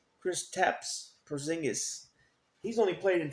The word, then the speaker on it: Kristaps: How do you pronounce his first name? Kristaps Porzingis.